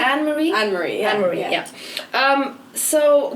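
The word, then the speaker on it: Anne-Marie: like Jorja Smith, IMDb, Ray Black, Lady Lushur, Anna Marie. Do I pronounce that correctly? Yeah. It's Anne Marie? Anne Marie, yeah.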